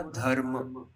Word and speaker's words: धर्म: ठीक है, जब भी ये रेफ आता है, ठीक है, मतलब यहाँ पर क्या हो रहा है कि जो व्यंजन है ध, ठीक है, तो इस रेफ का प्रोनाउंसिएशन जो उच्चारण है वो हम कहाँ करेंगे, ध में करेंगे। ठीक है, ध के जस्ट आगे करेंगे, म पे नहीं करेंगे।